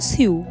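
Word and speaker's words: Sioux: এই জায়গাটার না মানে আমি উচ্চারণ করি সিওক্স ফলস বলে কিন্তু এই জায়গাটার আসল উচ্চারণ হলো সিউ এটা সাউথ জাকোটার মধ্যেই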